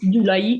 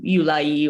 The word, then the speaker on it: Gyulai: The tricky part is my surname because it's pronounced Gyulai in Hungarian. But there's no such sound in English, so that's the problem. Yeah. Basically, so it usually ends up being Gyulai or something like that.